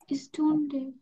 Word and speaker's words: Stunde: এটা, হ্যাঁ, এটা উচ্চারণ স্টুডে। স্টুন্ডে।